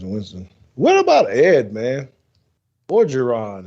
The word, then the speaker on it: Orgeron: Orgeron, is that how you say his name? Orgeron. Yeah.